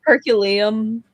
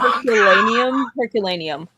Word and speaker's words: Herculaneum: Herculeum. Not only did I say that wrong. Herculaneum.